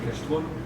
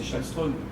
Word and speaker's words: Kallström: Parce que voilà, à l'époque, le King Kallström, tout le monde disait Kallström, mais en Suède c'est Källström. Et si tu commences à dire Källström, c'est tellement répandu de dire Kallström qu'il y a un côté un peu étrange.